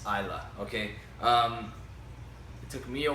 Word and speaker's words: Islay: beginning so what like as you know in comparison to the word island okay it's is l8